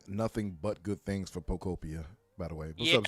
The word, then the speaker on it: Pokopia: You're really Poketopia. struggling. Nope. There's no T. Oh, no T. Pokopia. Pokopia.